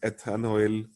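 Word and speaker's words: ethanoyl: ऐसे ही acyl chloride में आप ईथन के आगे OYL ओइल क्लोराइड लगाएंगे तो इसका बोलने में इट is pronounced as एथेनोइल chloride, एथेनोइल chloride.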